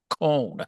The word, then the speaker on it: Cone: He is Chief Master Sergeant Patrick Cone. Did I pronounce it right, Patrick?